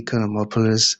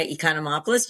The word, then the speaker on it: Economopoulos: Okay, Economopolis, over to you. Thanks, Elijah. I appreciate once again to you and to all your listeners. Yes. Uh my name is Economopoulos. You say it correctly and I love the way you say it.